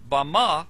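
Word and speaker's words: בָּמָה: in the Strong's Hebrew dictionary and it is pronounced Bama is most commonly used to refer to a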